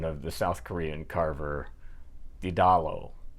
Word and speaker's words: Ddalo: Well, the computer says you pronounce the D's as if it was a T, as in Tom.